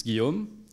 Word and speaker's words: Guillaume: uh as for my name close enough it's guillaume but if you don't have a um if you don't have the inspiration to pronounce it properly you can just call me